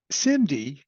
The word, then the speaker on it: SIMD: equation one set of numbers compute the result simd which is how that's pronounced is single instruction multiple data and we'll